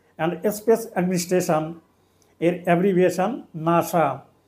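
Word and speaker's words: NASA: Space administration এর abbreviation নাসা এখানেও এন এস উচ্চারিত হবে না শব্দের ন্যায় উচ্চারিত হবে অর্থাৎ এখানে ন্যাটো হু এবং নাসা এগুলো হলো একক্রোনিয়াম যেগুলো শব্দের ন্যায় উচ্চারিত হবে।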